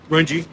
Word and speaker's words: Runge: Is that how you say it? Runge? Rungy.